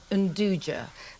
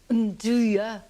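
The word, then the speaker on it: 'nduja: The way that Nduja is spelt looks to us as if it should be pronounced Nduja, but You can remember its correct pronunciation if you think of saying, Nduja, want to eat now?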